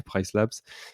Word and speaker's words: PriceLabs: de Price Labs, pardon, il y a un S, il faut bien le prononcer, Price Labs, qui est un outil